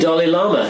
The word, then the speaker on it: Dalai Lama: How about Dalai Lama? Did I pronounce that correctly? The Dalai Lama.